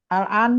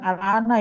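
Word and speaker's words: الآن: Yang ujungnya al-an itu bukan al-ana ya Pak Guru. Bacanya kan ngomong al-an.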